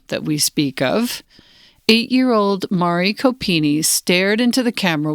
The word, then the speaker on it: Mari: Mari or Mary Copeny. Can you make sure that I pronounce her name right? Is it Mari or Mary? Mari, good.